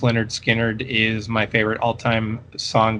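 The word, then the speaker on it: Lynyrd Skynyrd: i'm not the biggest leonard skinner fan in the world but tuesday's gone from pronounced leonard skynyrd is my favorite all-time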